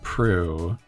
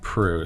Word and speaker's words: Proulx: I think it's going to be Annie Proulx, and her name is spelled Proulx, I believe. Yeah, it's kind of an unusual spelling, but it does sound like Prue.